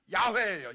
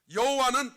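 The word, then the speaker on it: 야훼: 그런데 이걸 빨리 읽으면 야회예요. 야회. 그런데 우리나라는 여호와라고 번역됐죠. 여호와는 독일씩 발음해요.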